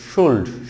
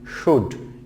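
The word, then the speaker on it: should: তারপর হচ্ছে শুড, এখানে অনেকে বলে, অনেক শিক্ষার্থী বলে শুল্ড, শুল্ড নট শুল্ড, শুড, শুড।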